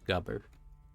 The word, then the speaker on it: Gubber: Sounds like rubber, but it's Gubber.